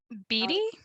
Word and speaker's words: Beattie: do you say your last name melody yeti beatty bd b-e-a-t-t-i-e um she also does something uh